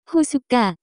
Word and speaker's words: 호숫가: The pronunciation of this word is closer to 호숫가, examples, 호숫가에는 많은 사람들이 낚시를 하고 있어요.